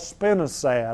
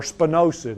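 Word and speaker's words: spinosad: You can also use the new bait that's on the market called spinad. I don't have any problem with that or spinosid I guess is the proper pronunciation.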